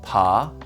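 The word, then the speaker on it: 爬: with their hands and knees this character is pronounced pa and means creep it is used in this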